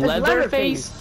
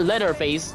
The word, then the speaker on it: Leatherface: huh what you mean leather face not Leatherface no you're saying no say it right say it right leather face not letter face like